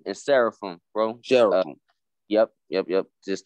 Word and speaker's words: seraphim: angel kind of angelic it's you got it's pronounced cherubim and seraphim bro yup yup yup just to help you